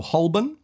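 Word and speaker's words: Holborn: this but I'd say more londoners actually ignore the L as well and they say hoben oh I'm stopping at hobin to switch from the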